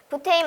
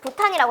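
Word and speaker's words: butane: 그래서 여기 있는 알칼라인이 전부 다 그런 발음을 뜻하는 거예요. 프로페인 말고 프로판이라고 해도 되는 거고. 부테인 말고 부탄이라고 해도 되는 겁니다.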